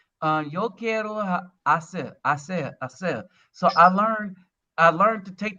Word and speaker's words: hacer: Yo quiero hacer. So I learned to take that H out. It's just hacer, hermano, hermana, You hermosa.